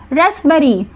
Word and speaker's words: raspberry: Next रेस्पबेरी, यहाँ पर P silent है, स्पेलिंग होगी RASPBERRY।